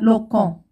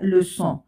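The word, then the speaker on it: leçon: هنا إذا لم نضع هذه العلامة ستنطق هذه الكلمة لو كون. والآن نضع هذه العلامة لأنها لكي تنطق صحيحة هي le son.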